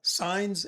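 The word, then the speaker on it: Saenz: Signs. S A E N Z. I would have never guessed that.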